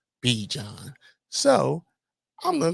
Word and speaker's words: Bijan: think he said now I looked up how he pronounces his name he says he his mother says Bajan and he says he started calling himself B John so I'm gonna call